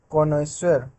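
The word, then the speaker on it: connoisseur: Next word है कॉनेश्वर। तो कॉनेश्वर मतलब मैंने आपको बताया था कि ईश्वर की तरह इसका प्रोनाउंसिएशन है, तो यानी कि कोई विशेषज्ञ है जो कि एक्सपर्ट है हर एक चीज़ में।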